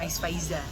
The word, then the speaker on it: Aiz Faiza: Bukan Tapi bukan Ais. pronunciation-nya Ya? tetap Ais Faiza. Oh iya benar. A-nya sedikit panjangin mungkin.